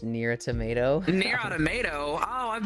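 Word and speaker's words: NieR:Automata: Violet, it is pronounced near a tomato.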